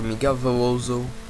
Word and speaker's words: Miguel Veloso: So right after that one, I'm going to make an offer for Miguel Veloso, that's how you say it in Portugal.